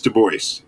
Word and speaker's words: Du Bois: Right in the center there is W.E.B.-- William Edward Burghardt-- Du Bois-- and it is "Doo-Boyce" --he was an American-- so French name but American pronunciation-- W.E.B Du Bois, one of the most important authors, thinkers in American history.